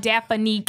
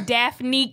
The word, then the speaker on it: Daphnique: You know, niggas love to add 3 syllables to my name. It's not Daphnique. It's Daphnique.